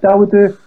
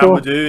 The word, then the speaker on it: Dawodu: Dawodu. There we go. Dawodu, yeah.